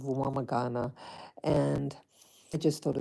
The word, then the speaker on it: Rwamagana: Yeah, the name of the neighborhood is called, okay, I have to pronounce it in American English, Rwamagana. Rwamagana.